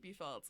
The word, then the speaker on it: BFELDZ: I pronounce it B Felds.